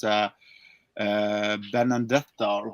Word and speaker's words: Benedetta: talk about that one but it's uh uh Ben andetta or how you say it like this one oh benedetta yeah I was I've never been a big